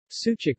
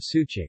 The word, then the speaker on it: sucuk: is made of beef sucuk pronounced Suja course ooh Jake with accent on the last syllable is a type of sausage made in Turkey and neighboring Balkan countries there are many types of sucuk but it is mostly